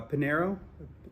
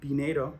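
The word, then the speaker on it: Piñeiro: Patterson is Jags uh Panero Pinedo that's how you actually pronounce it 13 points Carlson 12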